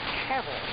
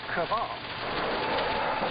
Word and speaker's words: Cavil: Paul apparently has a lot of time on his hands, correcting our ignorant pronunciation of his dog's name, which is Cavil, not Caval.